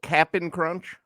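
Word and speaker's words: Cap'n Crunch: so you call it Captain Crunch yeah Captain Crunch okay because it is spelled that way capap apostrophe n but everyone knows it's Captain crun but I'm not I'm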